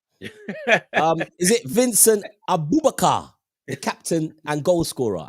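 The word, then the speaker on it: Aboubakar: with us lot, and you're going Abububuka. What kind of nonsense is that? Think of what you're saying. Break it down into syllables. Do you know what syllables? No, I've got it here, but I just, yeah. It's Carl. It's Abubakar.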